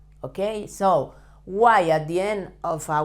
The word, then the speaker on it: soy: Yo soy. When an Y is at the end of a word in Spanish, you have to pronounce it as a Spanish I.